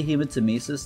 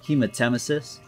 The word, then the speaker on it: hematemesis: okay I will say I always say human to mises now instead of hematemesis hematemesis was the original pronunciation of the narrator but when uh oh